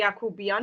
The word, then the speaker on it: Yoghoobian: Actually, it shouldn't be very interesting to you because you have the word Yakub in Turkish, I guess. Oh, yeah. So, my surname is exactly Yoghoobian, means Yakub's family.